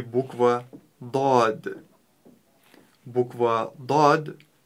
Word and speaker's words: ض: А для начала давайте научимся правильно ее произносить. ДОД.